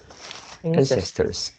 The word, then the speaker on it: ancestor: this one is ancestor ancestors yeah the stress is at the first syllable ancestor yeah you pronounced as ancestor today however we live